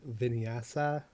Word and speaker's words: vinyasa: words like hatha yes does that or vin vinyasa yeah am i pronouncing that right yes i mean i'm not